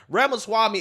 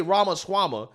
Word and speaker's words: Ramaswamy: first name it's not the easiest thing to pronounce but it's last name I think is pretty simple right Ramos Swami is not that hard to get right okay